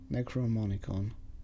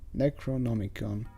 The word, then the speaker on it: Necronomicon: man or something icon necronomicon necromonicon necronomicon oh yeah seems that i mispronounced it anyways this is so